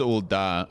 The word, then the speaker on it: Ul'dah: It is Ul'dah. Okay. The pronunciation.